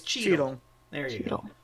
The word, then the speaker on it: Cheetle: It's Cheetle. There you Cheetle. Go. Like Sorry. Don Cheetle. Running in Hotel Rwanda. No, like C H E E T L E, but pronounced the same.